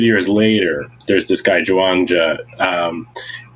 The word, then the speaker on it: Zhuangzi: And a few hundred years later, there's this guy, Zhuangzi. Ram Dass pronounces his name Chung Su. That's the improper Chinese pronunciations.